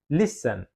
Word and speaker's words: listen: Yang benar adalah listen, bukan listen atau listen ya, tapi listen ya, lebih ditekankan list-nya.